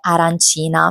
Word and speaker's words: arancina: E mentre stavano cantando c'è stata la battuta sull'arancin, che è un cibo tipico che per alcuni viene pronunciato arancino e per altre regioni italiane invece la pronuncia esatta è arancina.